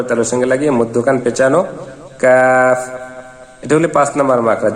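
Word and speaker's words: ق: সেখান থেকে এই দুজন চার নাম্বার মাখরাজ জিহ্বার গোড়া তার বরাবর উপরের তালুর সঙ্গে লাগাইয়া দুই নুক্তালা কফ কফ কফের উচ্চারণ জিহিব্বার গোড়া উপরের তালের সঙ্গে কফ কফ পাঁচ নাম্বার মাখরা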